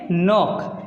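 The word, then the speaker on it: knock: ओ सी के नौ अब इसको क्लॉक नहीं पढ़ेंगे नाक नाक ठीक है तो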